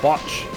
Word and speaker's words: Botch: It's called Botch. It rhymes with notch.